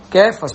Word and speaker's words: Cefas: Bíblia tá cefas né então lá na língua aramaica ele pronunciava mais ou menos assim cfas porque João era pescador